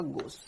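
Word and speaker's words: gauche: है, तो ये वाला रूप कहलाता है आपका गोश।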